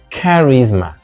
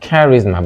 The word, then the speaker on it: charisma: kisma kisma not Charisma it's not Charisma but Charisma on the second syllable and instead of synopsis